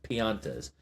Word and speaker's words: Piantas: Because it looks like pinatas, but it's Piantas.